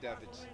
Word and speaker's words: Davids: Henry Davids. Davids or Davids? 8 gone, 76 for 2. Why are you pronouncing it wrong?